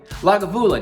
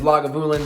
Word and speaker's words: Lagavulin: there which is uh I'm gonna say it wrong probably lagavula no because I keep wanting to say McAllen which is he thinks is okay he likes me calling where but is lagavulin 16 for the Smoky petinus